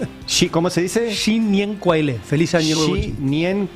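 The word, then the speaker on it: 新年快乐: Shin Nien Kuai Le. Sí, ¿cómo se dice? Shin Nien Kuai Le.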